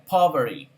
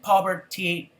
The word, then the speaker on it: poverty: Fíjense cómo acá la T prácticamente queda inhabilitada por la RT y queda poverty, poverty, poverty. Pero si quiere decir poverty, poverty, poverty, está bien, no hay ningún problema.